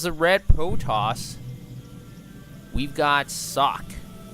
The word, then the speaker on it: Socke: red Protoss, we've got Socke. I might be pronouncing his name wrong, but I'll just call him Socke from now on. I'm going to assume the E is silent.